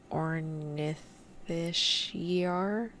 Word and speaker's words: Ornithischia: Yeah, because that just, Ornithischiar, that doesn't make sense.